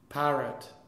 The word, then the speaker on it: parrot: So, the stress is on the? A. And the second syllable of a two or more syllable noun changes from the original syllable to the schwa. The schwa is not a full value syllable. It's like a half value syllable. So you have, imagine, instead of one stress on the pa, yeah, you have one and a half. Then on the you have half. So it's parrot.